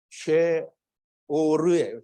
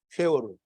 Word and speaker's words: 쉐올: 정확한 발음은 쉐월이에요. 쉐월. 쉐월. 그래서 쉐월. 세월호 같아. 세월호. 쉐월이에요. 세월. 세월호를 연상하면서 세월이라고 하면 돼요.